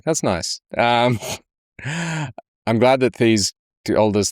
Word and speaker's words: Thies: I'm glad that Thies told us how to pronounce his name. Apparently it's thesis, but without the is at the end.